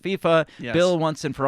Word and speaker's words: FIFA: We have confirmed it just like I confirmed that FIFA is pronounced FIFA.